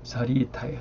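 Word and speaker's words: 자리이타: 하와 중생을 이타 똑같은 이자인데 앞에 썼기 때문에 발음이 이가 되고 그 다음 뒤에 쓰면 리가 됩니다. 자리 이타예요.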